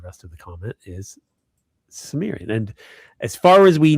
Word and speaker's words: Cimmerian: If you speak English it's Cimmerian.